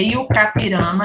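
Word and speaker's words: I-Juca-Pirama: mais Juca tá gente é yoka pirama na pronúncia pirama a pronúncia indígena aí o cara pirama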